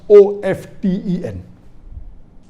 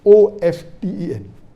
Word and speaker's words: often: T is not silent, it should be pronounced.